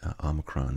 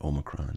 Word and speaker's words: Omicron: a little bit, and my first guess was that it was pronounced Omicron. And when I started listening to news stories about it, people were saying Omicron. In fact, Omicron is the preferred, or I guess predominant pronunciation in the United States, and Omicron is the preferred pronunciation in Britain.